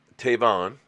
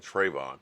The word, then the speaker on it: Tavon: only missed one game tavon I hope I said it right cuz I keep saying Trayvon and everybody kills me on it Tavon Austin of